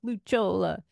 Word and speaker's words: Lucciola: so no I know the correct is like luch Chola but um my family never said it like